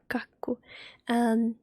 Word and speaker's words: kakku: You pronounce the K at the start, and the A, and it's ka, and then there is a double K in the middle of the word. That means that you need to pronounce the K 2 times. So you do it kak, kak, ku, ku, kakku, kakku.